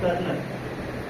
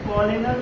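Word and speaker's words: colonel: कौन सी सही है कर्नल ठीक है इसको कॉनल कोलनल मत पढ़ लीजिएगा ठीक है आप कोलोनल नहीं पढ़ते हैं कर्नल पढ़ते हैं तो कर्नल की स्पेलिंग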